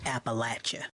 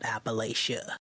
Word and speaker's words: Appalachia: to be rude but it's pronounced Appalachia not Appalachia all right so now